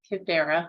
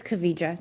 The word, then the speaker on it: Kavija: It's Kavija. It's okay. Everybody gets it wrong.